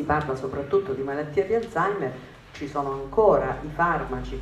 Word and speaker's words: Alzheimer: e la malattia di Alzheimer La chiamavano isomeyer perché non la sapeva pronunciare nessuno ed era ancora peggio era